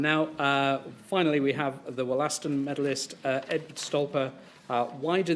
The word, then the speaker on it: Wollaston: He just pronounced it Wollaston, which is how it's pronounced for the mineral, wollastonite.